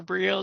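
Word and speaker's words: Briot: that i talked about it's actually spelt b-r-i-o-t and if i put the t in and the sound x i'm going to get a whole different set of names than i'm going to get if i put if i did it as brio because that's what it sounds like it could have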